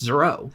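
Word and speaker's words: Zoreaux: goalie the Canadian Zorro keeps correcting everyone it's pronounced zero Bowen Zava tells him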